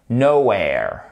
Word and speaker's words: nowhere: gaming we are getting nowhere nowhere donc là fallait bien mettre l'accentuation ici d'accord sur le N et le O attendez